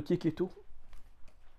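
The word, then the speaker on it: Checchetto: Et surtout les dessins de Keketo, Ça s'écrit chez Cheto, mais c'est Keketo.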